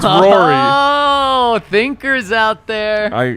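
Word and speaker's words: Roary: And their mascot's name is Rory the Tiger, but it's spelled O-R-O-A-R-Y, like because it roars a lot. It's Rory.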